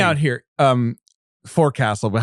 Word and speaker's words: forecastle: Or sometimes they spell it forecastle, but you still pronounce it forecastle.